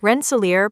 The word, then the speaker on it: Rensselaer: This is how you pronounce it. Rensselaer Polytechnic Institute.